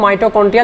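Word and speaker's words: mitochondria: माइटोकॉन्ड्रिया देखिए ध्यान से सुनिए, पढ़ रहा हूँ माइटोकॉन्ड्रिया लेकिन स्पेलिंग बनती है माइटोचॉन्ड्रिया, तो स्पेलिंग अलग है इसकी, थोड़ी सी CH साउंड दे रहा है यहाँ पे, जो कि एक्चुअल में यहाँ पे जो आप कह सकते हो कि CH का च साउंड नहीं आ रहा है, क साउंड आ रहा है, तो ये साइलेंट सेंस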